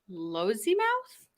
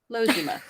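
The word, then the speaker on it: Lossiemouth: how they look honorary air commodore of raf lozy mouth lozuma that sounds fine l-o-s-s-i-e-m-o-u-t-h glossy mouth where's our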